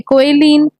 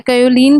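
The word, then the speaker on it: kaolin: Finally dispersed clay जो कि कोएलिन, quartz, feldspar. तो हमें पता है कि जो क्ले है कोएलिन भी देखने को मिलता है, कायोलिन भी देखने को मिलता है।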